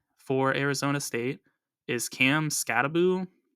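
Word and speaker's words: Skattebo: What's also big for Arizona State is Cam Skataboo, who has a very interesting pronunciation of his name. It doesn't look like Skataboo, but he should run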